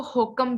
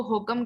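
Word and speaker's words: HOCM: इसको होकम भी कहते हैं, कुछ लोग इसको होकम के नाम से प्रोनाउंस करते हैं, कुछ लोग इसको हाइपरट्रॉफिक कार्डियोमायोपैथी कहते हैं, कुछ लोग इसको हाइपरट्रॉफिक ऑब्स्ट्रक्टिव कार्डियोमायोपैथी कहते हैं।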